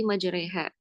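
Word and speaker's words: مجريها: Imalah itu artinya lafun bainal alifi wal ya. sebuah bacaan yang mana bacaan itu bacaan di antara alif dan ya atau biasa kita sebut bacaan miring ya bacanya e dan di sini sebutkan wala yamiluunal alif fi kalimah majreha fil ayah bismillahi majreha itu di surah hud ayat 4 41 lihat di bawahnya yaah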